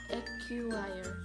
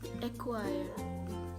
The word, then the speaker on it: acquire: found it difficult because i read the letter q like a q wire a q wire but it should be acquire acquire acquire but i